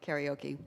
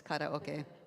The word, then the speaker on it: karaoke: I often feel stuck in my throat, so doing a warm-up and then singing, I have to say karaoke, Japanese pronunciation. US people say karaoke, but it's karaoke, right?